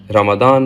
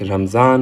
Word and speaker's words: Ramadan: Ramadan Mubarak, Ramzan Mubarak, Ramazan Mubarak. These are all perfectly acceptable ways of giving someone, celebrating this time of great generosity. Of course, it all depends on how you pronounce the Arabic ta.